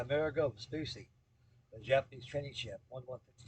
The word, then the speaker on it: Amerigo Vespucci: And also, I'm thinking about finishing up that the America Vespucci. The America Vespucci, I can't pronounce it. Amerigo. Yeah, Amerigo Vespucci.